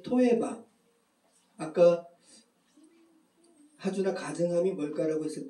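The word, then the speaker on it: תועבה: 우리가 창세기 나눌 때 그렇게 많이 요셉의 기사에서 다뤘던 토에바. 우리말이랑 비슷하죠. 너무 우리가 약한 게 들어가면 토 나오죠. 발음도 비슷해요. 토에바.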